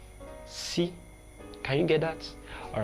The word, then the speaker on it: S: Then the next one is si, si. Now we know that in writing it is S in English, but in Yoruba it's called si, si, si.